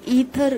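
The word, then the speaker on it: aether: से जाना जाता है थर बोलेंगे तो वोह स्पेलिंग के हिसाब से इंग्लिश में देखो ए ई टी एच ई आर थर यानी हम जो हिंदी में अंतर बोल रहे उसी के बारे में यह सिखाया जा रहा है यह ए ई टी एच ई आर जो है यह ईथर के प्रोनाउंस में किया जाता है ए साइलेंस रखा जाता है ओके तो एरिस्टोटल जो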